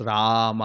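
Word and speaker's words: Rāma: Rama means enjoying and rama the the the first a that that's like a double A. If you see it's a the A is like dashed on the top and in Sanskrit if if if if a A or any syllable that has a extra line on top that's like elongated. So ah it's rama.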